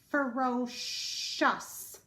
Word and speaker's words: ferocious: My next word is ferocious, shus. C-I-O-U-S.